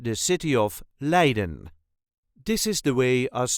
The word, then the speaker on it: Leiden: accent the city of Leen this is the way us duchies say Leen Leen so there is a very light emphasis on the first syllable le le dun all